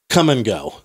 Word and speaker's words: Kum & Go: Have you heard of it's a little gas station in the Midwest, I believe, called Come and Go. I mean, that's a name. And it's spelled K-U-M. Oh, wow.